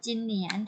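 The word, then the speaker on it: 今年: ทำ ได้ ทำ แรก คำ ว่า ปี นี้ อ่าน ว่า ยัง ไง คะ ขึ้น แผน ห่าว จินเหนียน ถูก ต้อง ค่ะ อ่ะ คน อื่น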